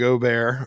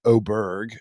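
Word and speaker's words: Åberg: you some credit here uh ludvig Oar or excuse me I think we have a new pronunciation uh we it's ludvig oberg I think is how want to be called now it's gonna take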